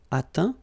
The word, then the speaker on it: atteint: Okay, as usual, final T not pronounced. Atteint, éteint.